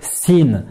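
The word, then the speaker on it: سين: une aide qui est facile à prononcer puisque c'est comme le s en français c'est la lettre sin la lettre sin 7,6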